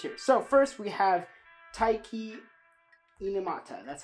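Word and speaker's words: Taiki Inomata: about two characters here so first we have taiki Mata that's how you pronounce his name so he's the male lead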